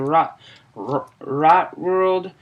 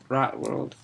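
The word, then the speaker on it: Rotworld: 15 part of the rock rock world uh the Green Kingdom part three sorry I pronounce I suck at pronouncing that rot world sorry to pronounce uh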